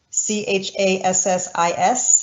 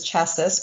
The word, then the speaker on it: chassis: actually our second word that's on the list c-h-a-s-s-i-s it might look like it says chassis but it's pronounced chassis okay this is called the chassis